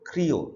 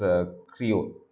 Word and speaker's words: Creole: it is not English it's dialect is called Creole so this has to be pronounced as Creo see that so it has to be pronounced